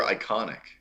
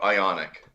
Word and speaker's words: IONIQ: Is it Ionic or Iconic? IONIQ. Oh, Ionic.